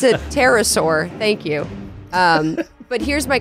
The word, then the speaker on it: pterosaur: How do you even spell it? It's a pterosaur, I think.